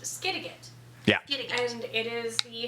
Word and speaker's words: Skidegate: It's pronounced Skidegate.